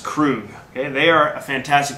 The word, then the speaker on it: Krug: name of the producer krug k-r-u-g pronounced crew okay they are a